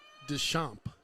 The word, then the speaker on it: Deschamps: Pronounced Deschamps. Deschamps.